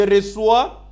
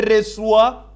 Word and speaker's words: reçois: It helps us to get the sound of C or C sound. Otherwise, this C will be pronounced as qui. Then, je reçois, ending with S, tu reçois, il reçoit, elle reçoit.